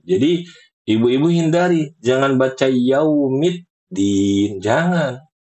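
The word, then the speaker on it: يوم الدين: Jadi, ibu-ibu kalau baca yaumiddin, ibu-ibu itu masukin huruf ta walaupun cuma setengah harakat. Dan kata Syekh Mahmud Alhushari ya, di antara kesalahan fatal adalah memasukkan huruf sesu huruf baru di dalam satu kalimat.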